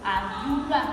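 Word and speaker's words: àdúrà: The vowel that there, that's the ohùn silent, the one that is low, the low tone. Do, do, that's the mi, that's the high tone. Ra, do, that's low tone again. So adura, that's the prayer.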